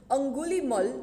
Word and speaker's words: Angulimala: Angulimal, no doubt the spelling has been written as Angulimala, but the pronunciation is Angulimal.